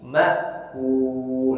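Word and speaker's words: مأكول: Terakhir lam, hati-hati jangan ikut monyong karena domah makul, tapi makul, langsung senyum, makul.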